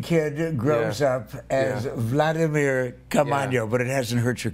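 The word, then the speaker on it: Caamaño: first time I have ever known a Vladimir Caaman. You said it right. Thank you so much, man. I even pronounced Vladimir.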